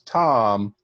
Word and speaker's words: Thom: You make sure that my boss, Tom, is on your report. Tom. And it's spelled weird. It's THOM.